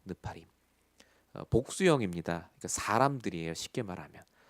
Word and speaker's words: 네피림: 네피림의 사건. 나팔이라는 동사가 명사화됐다. 네피림, 우리 한국말로 하면 네피림이지만 정확한 히브리어 발음은 느파림입니다. 느파림.